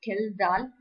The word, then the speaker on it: Kjeldahl: So Kjeldahl, Kjeldal. அதுல J, the second alphabet is silent. So we call it as the Kjeldahl's flask.